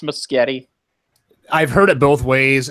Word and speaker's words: Muschietti: his own nameless getti it sounds like a Family Circus cartoon where it's like the kids trying to pronounce spaghetti it sounds like a